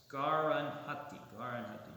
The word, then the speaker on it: Garanhati: Could you spell that out? Drupada? G-A-R-A-N. It's Garanhati.